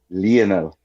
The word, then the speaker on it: Lionel: The the proper pronunciation is Lionel.